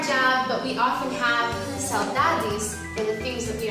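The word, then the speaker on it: saudade: It's called saladis. What's the word? Salajis.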